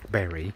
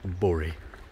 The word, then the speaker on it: Bury: Now, I'm going to pronounce it Berry, because I'm, like, normal. But I know you northerners like to call it Bury.